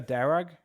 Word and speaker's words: Darragh: And then there's Lydia Darragh, um d a r r a g h. I assume the h is silent, Darragh.